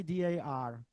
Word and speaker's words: dar: Why D.A.R? D.A.R is acronym, but not only. D.A.R is on the one hand, this acronym means also in the Czech pronunciation dar.